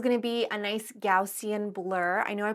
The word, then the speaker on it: Gaussian: And of course, the next step is going to be a nice Gaussian blur. I know I pronounce it kind of weird, but that's actually the way you're supposed to say it.